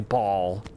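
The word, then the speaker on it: Bhaal: know Bane ball I I still think Bale is a superior pronunciation but apparently ball is how you say it and uh Merkel okay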